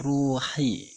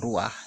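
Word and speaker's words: روح: Nah, di sini kita lihat ruhi. perlu diketahui bahwa ro ini adalah suatu tempat ya. Wow di sini adalah dimatikan ya. Ru makanya dibacanya ru bukan ruah ya.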